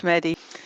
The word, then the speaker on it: Mehdi: And myself, my name is Mehdi. Donald, thank you very much for actually pronouncing my name perfectly. Not many people pronounce it the Arabic way with that H in the middle.